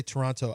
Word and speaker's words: Toronto: I don't say Toronto. I say it like they say it. Toronto.